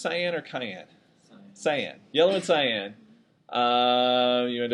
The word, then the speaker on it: cyan: Yellow and is it pronounced cyan or cyan? Cyan.